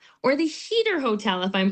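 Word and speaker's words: Huether: And that's when I learned it's actually pronounced heater.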